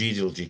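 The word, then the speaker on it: Edalji: about the case, and she thought it was pronounced Edelgy.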